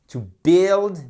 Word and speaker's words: build: rétablissement ok méfiez-vous méfiez-vous on ne prononce pas ici le U c'est pas build Buil Buil ça n'existe pas build built Buil OK et